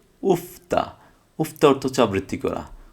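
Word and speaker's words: 읊다: Sorry, রিউল আর ফিউপ একসাথে থাকলে আমরা জানি, রিউল আর ফিউপ যদি একসাথে থাকে তাহলে ফিউপের উচ্চারণটা হবে, রিউলের উচ্চারণটা হবে না। তাহলে সেক্ষেত্রে দেখেন, এই যে রিউল রিউলের উচ্চারণটা হবে না, তাহলে কি হবে, উফতা, উফতা অর্থ হচ্ছে আবৃত্তি করা, উফতা, আবৃত্তি করা।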